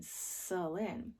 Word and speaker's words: Celyne: says k, k, k, but there's an E after it, so it makes it soft. So C makes a k, k, k sound, but it also makes a S sound. So that's how you say my name, Celine. And that's because of this E right here makes the C soft.